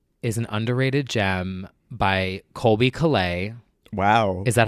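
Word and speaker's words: Colbie Caillat: So one of my favorite Christmas songs is an underrated gem by Colby Calais.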